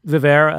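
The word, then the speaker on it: VivAer: Vivair? How do you pronounce it? So Vivair.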